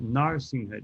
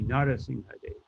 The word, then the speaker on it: Narasimhadev: But it's not Narsimhadev, it would be Narasimhadev.